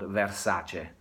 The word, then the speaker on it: Versace: The family is Italian from the south, and therefore try to make the effort to call their name what it's supposed to be called, Versace. So never, not Versace, just Versace.